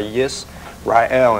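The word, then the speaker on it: ישראל: Okay, the name actually in the Hebrew language, it's pronounced with Yisrael.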